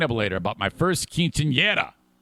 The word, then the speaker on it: quinceañera: I had four jobs to do, including my first quinceañera.